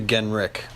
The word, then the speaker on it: Genrich: It's actually Genrich.